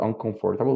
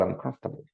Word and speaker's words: uncomfortable: The same happens with uncomfortable. It's not uncomfortable, but uncomfortable.